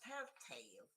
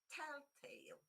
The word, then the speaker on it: telltale: We have the famous telltale, 2 syllables, and the main stress, yeah, again on the first one. Because again, you see that is a compound word and therefore telltale.